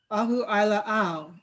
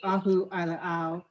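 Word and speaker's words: Ahuʻailāʻau: them the figure eight ahu ai la ao and i only learned how to pronounce that name a couple days ago because officially the fissure eight is named ahu aila'au its hawaiian name which complements apparently the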